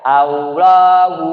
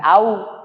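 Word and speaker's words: الله: harus benar kalau baca Allahu Akbar kabiro itu langsung kakat bu bukan Allah bukan au tapi Allah kalau IB baca au Berarti ada wau Hamzah wau lam lam wau Enggak ada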